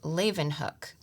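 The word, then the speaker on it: Leeuwenhoek: so there's a note that says this is pronounced Leen hook um so all kinds of little helps like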